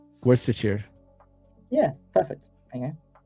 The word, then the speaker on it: Worcestershire: How do you pronounce it? Worcestershire. Worcestershire.